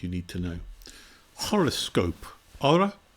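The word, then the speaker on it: ὥρα: Hora, meaning time, or hora, because normally there's an H and silent H in front of the O.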